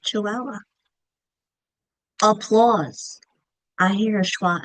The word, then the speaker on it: Chihuahua: Chihuahua. Do you hear a schwa? I do. At the end of Chihuahua.